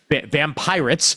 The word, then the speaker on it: Vampyrates: Vampyrates. Vampyrates! It's called Vampyrates. You gotta shout it. If you're not shouting it, you're saying it wrong.